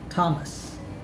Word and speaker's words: Thomas: here are examples of words with the letters t and h pronounced as t or the t sound thailand discotheque esther time thomas that's all for today